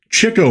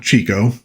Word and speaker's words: Chico: Well, if you know your Marx Brothers lore, you know that Cho Marx, not Chico, which a lot of people pronounced it that way back in the day.